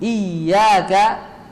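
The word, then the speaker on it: إياك: Midin fadol coba yaumidin iyaka ini iyaka ini tasdidnya harus jelas tapi jangan berlebihan iyaka iyaka iyaka na'budu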